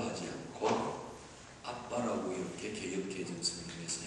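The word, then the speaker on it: אבא: 단어를 아바라고 하지 않고 아빠라고 이렇게 개역 개정 성경에서 한 것은 발음을 그대로 표기했기 때문입니다. 두 번째 장음에 병강점이 찍혔으므로 강하게 발음하고, 그래서 연발음으로 하면 아바가 되지만 강발음으로 발음하면 아빠가 되는 겁니다.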